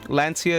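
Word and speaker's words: Lancea: Lancia is how you say it, guys.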